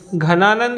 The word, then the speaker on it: घनानंद: अभी पढ़ा हमने, घनानंद भी बोलते हैं इसे, हम धनानंद भी बोलते हैं।